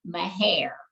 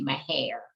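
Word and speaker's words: Mexia: family grew up in the community that's called my hair and i always tell people if you are a texan or if you are from that area you call that little community my hair if you're not then you pronounce it as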